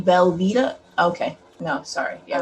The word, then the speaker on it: Velveeta: like craft does does does anybody else pronounce velveeta velveta sometimes nope like when you're spelling it or like writing it down you're like vel the instead of isn't it spelled v-l-v-e-e-t velveeta okay no sorry yeah